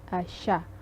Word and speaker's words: siya: And we have the, by the way, how do you pronounce siya? It's like S, you drop the, although it's S-I-Y-A, you just drop the sound of I.